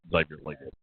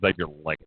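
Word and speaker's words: Xavier Legette: his name is not zavier Le if it is he mispronounces his own name I I don't care what it says in the pronunciation G his name is Xavier leg okay uh and then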